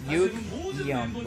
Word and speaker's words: Yugyeom: Yugyeom. Yugyeom. You see, so they Yugyeom, right? Because it's 2 syllables.